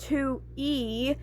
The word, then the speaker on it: Toothy: Toothy, it's pronounced two e, is a self-proclaimed trash rodent.